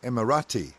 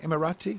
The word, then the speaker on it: Emirati: Kiwi captains, a Kiwi first officer and an Emirati. Is that how you say it? Emirati first officer? Emirati, yeah.